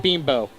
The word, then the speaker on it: Bimbo: Oh, and it's not bimbo. It's bimbo. Bimbo, whatever. Or whatever. It's spelled B-I-M-B-O, so bimbo.